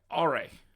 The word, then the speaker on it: Aurei: All right, so we have Aurei, is how you say it.